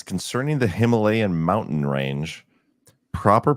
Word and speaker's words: Himalayan: JJ Shradi says, concerning the Himalayan mountain range, proper pronunciation is Himalayan.